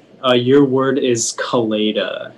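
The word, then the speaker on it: coleta: all right uh your word is kaleida it's the pigtail worn by a bullfighter can i please have all the information yeah so the only pronunciation is kaleida it's a noun and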